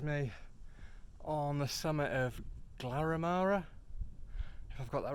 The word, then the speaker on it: Glaramara: Not sure what the plan is today, but I'll pack up in a bit and go up Glaramara. I think I finally got that right after mispronouncing it so many times, and then make a plan from there.